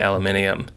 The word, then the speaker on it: aluminium: I say aluminium.